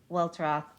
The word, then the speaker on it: Welteroth: Elaine Welteroth is talking a lot about this on Instagram